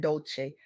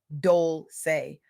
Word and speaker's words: Dolce: I'm your host, Dolce, pronounced Dole-say, like sweet softness whispered in French.